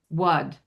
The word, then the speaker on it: word: So if I were going to spell the word word with the British accent in this pronunciation, I would spell it WUHD. What? Wud.